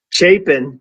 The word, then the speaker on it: Chapin: Chapin. Yeah, Chapin. I'm sorry. My son says that to me all the time. He's like, "Dad, don't forget it's Chapin."